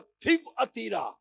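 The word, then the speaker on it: Thyatira: اور تھیب اتیرا جو اس کا تلفظ ہے، وہ تھیب اتیرا کی کلیسیا کے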